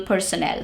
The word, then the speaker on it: personnel: Not everyone enjoys working with clerical personnel. So personnel, N-N-E-L, that's how you pronounce it.